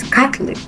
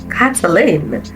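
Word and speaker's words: Caitlin: for example now this is kitlin I pronounce it kitlin some people pronounce it Catlin some catline some blah blah blah we have cat we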